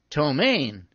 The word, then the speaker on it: ptomaine: I was giving examples of words that begin with silent P, like pseudo and ptomaine.